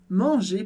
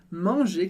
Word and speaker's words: manger: De novo, em commencer você percebeu que ER termina em E, e a gente pronuncia simplesmente E no final. A mesma coisa aqui em manger, comer.